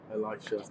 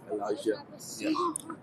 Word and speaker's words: Elijah: So his his name is is Elijah. Yeah. Spelled Elisha. Elijah.